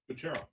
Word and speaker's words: Kucherov: Kucherov.